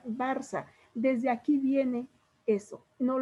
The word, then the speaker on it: Barça: Barca, y tiene una C con una como comita debajo de la C, se llama cedilla, pero se pronuncia Barça.